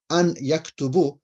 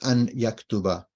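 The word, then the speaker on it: أن يكتبَ: So if you wrote an yaktubu, it's wrong. You've written it wrong. I know what you're saying, but you've written it wrong. You've said it wrong. It's an yaktuba, right?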